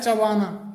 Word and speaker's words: chew: इसे च्यू करके बोला जाता है, इसका मतलब होता है चबाना, जबकि इसका सही जो प्रोनाउंसिएशन होता है वो चू होता है।